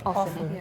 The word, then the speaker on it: often: give an example so there's a word o f t n f often and did you know that it also can be often yes but not many